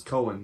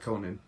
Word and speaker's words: Cohen: what you said it right the first time was Cohen not Conan oh okay um anyway